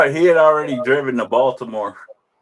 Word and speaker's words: Baltimore: Baltimore? Yeah. Yo, cuz when you're in the city, we don't pronounce the T, but everybody else does. Say it. Baltimore. Baltimore.